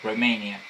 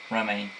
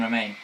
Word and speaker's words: Romaine: join forces with Queen Romania. If I pronounce that right, Romania, whatever. No, Romaine. Yeah, Queen Romaine.